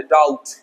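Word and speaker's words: doubt: इस तरीके से डाउट, बी साइलेंट है, डाउट।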